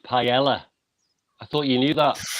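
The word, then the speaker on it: paella: not a b Sor I'm sorry it's it's pronounced Pella I thought you knew that oh somebody has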